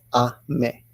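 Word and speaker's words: 雨: means rain now usually that kanji alone is pronounced as a me I mean like American I'm a I'm a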